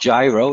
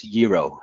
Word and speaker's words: gyro: food of Greece you know and it's not gyro its gyro and that's the way you should pronounce it it's very different from the ones